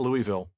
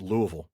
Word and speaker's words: Louisville: It is not Louisville. It is Louisville.